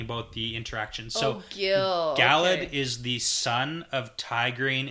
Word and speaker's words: Galad: she calls this guy Galad.